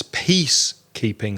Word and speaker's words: peacekeeping: I think the stress was not on the first word, peace. I think Juan stressed peacekeeping. So it's peacekeeping. So stress the first word, peacekeeping.